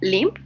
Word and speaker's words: limb: It's limp. The pronunciation of the Yes. first word is limp.